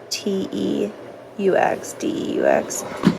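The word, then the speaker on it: Teux Deux: The app is called To Do, and it's spelled like this. Teux, Deux.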